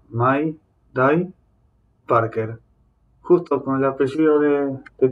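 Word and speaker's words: Mayday Parker: curioso quiero ser curioso Mike Parker así se pronuncia Mai dai Parker justo con el apellido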